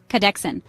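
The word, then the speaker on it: kahdeksan: an kadex means eight say k like car really fast then say Dex like the beginning of dexterity then a soft an cadex an octopus has eight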